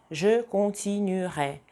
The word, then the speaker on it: je continuerai: Если у глагола первой группы в предпоследнем слоге есть гласный, например, continuer, либо étudier, oublier, то в будущем времени не звучит никак. J'étudierai, je continuerai, il oubliera. Только так. То есть это вообще в произношении отсутствует.